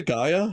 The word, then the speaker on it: Gaia: Uh but yeah, Gaia.